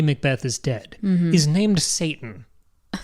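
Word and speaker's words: Seyton: is dead he's named Satan I right spelled differently but it's named Satan and it's phonetically Satan how is it spelled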